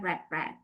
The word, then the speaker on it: read: Tapi bacanya verb one itu read. Verb two, verb itu bacanya red like is merah red.